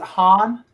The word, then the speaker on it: Han: young robin hood didn't you just say you pronounce it han what did i say i did not sing you said hey i'm going back to the producer's hole bye-bye i'm sorry han thank you for joining jack's moment of triumph